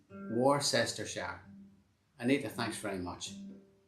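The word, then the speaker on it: Worcester: is the same country it's pronounced war cester war sister shah anita thanks very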